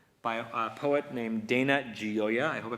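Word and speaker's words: Gioia: with a poem by a poet named Dana gioya I hope I pronounced that right g-i-o-i-a the poem is called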